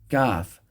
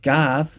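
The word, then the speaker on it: ك: And kaf is pronounced with an empty mouth away from the uvula, but right around here.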